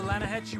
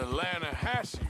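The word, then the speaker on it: Lannahechee: the other day I rode down to the lahti river I caught some beautiful steel head trout you mean the lahash river no no no no no no the the lah hatche it runs right near here yeah but it's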